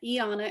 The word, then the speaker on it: Ianna: skoda and i know a lot of people don't know how to say my name but ianna is how you pronounce it um i have 13